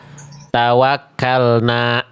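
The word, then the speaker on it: تَوَكَّلْنَا: Tawakkalna. Janganya ya. Bunyinya dilepas. Nih, Teman-teman. Tadi kesalahannya ee Bunda Bunda Musriati ketika berhenti di kalimat tawakalna itu kayak nambah hamzah hamzah sukun. Tawakkalnaah harusnya tawakkalna.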